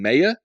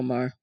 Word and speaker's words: Maher: Is it Maher? How do you say his name? Mayer? I say his name Mayer. It's Bill Maher. Okay, Bill Maher.